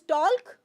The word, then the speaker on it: talk: there okay so salmon talk it is talk no talk talk because there is K after that here it is a